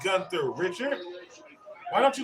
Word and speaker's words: Gunther: started all right so pardon me john it's pronounced gunther and it is pronounced you know what you